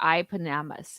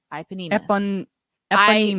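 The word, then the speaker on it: eponymous: Eponymus. There's an I. It looks like it's an I. I don't know. It is ep. Why does it have an I for the pronunciation?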